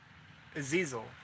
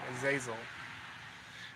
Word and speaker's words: Azazel: It was Azizel. Azizel. I said it wrong. Azazel.